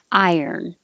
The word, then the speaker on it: iron: real word i yearn iron but it doesn't have to be so separate i earn i yearn keep your tongue moving and let the sounds um combine iron iron and the